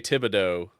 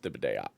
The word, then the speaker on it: Thibodeaux: might say Thibodeau when they say it wrong. It's Rad Thibodeaux.